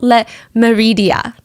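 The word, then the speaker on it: Le Méridien: It's called Hotel Le Meridia. I'm trying to pronounce it in the French way.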